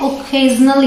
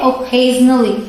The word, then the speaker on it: occasionally: तो यहाँ पे आप देख सकते हैं मैंने ख लिख रखा है, यहाँ पे मैं क नहीं बोल रही हूँ। तो कई बार सी की प्रोनाउंसिएशन क ना होके ख होती है, तो इसे प्रोनाउंस करते हैं ओकेजनली, ठीक है।